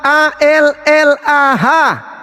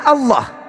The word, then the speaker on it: Allah: Arab bacanya itu apa dalam kaidah aslinya bacaannya Allah kalian menyembunyikan identitas Tuhan kami dengan membacanya Ya. Alah alah alah.